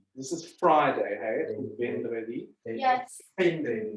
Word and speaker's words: vendredi: Wait, so in the French, it is, how do you pronounce it? Vendredi. This is Friday, hey? Vendredi.